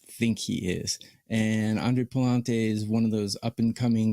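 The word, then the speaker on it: Pallante: I believe it's Aaron Nola for the Phillies, and I believe his name is pronounced Palante for the Cardinals.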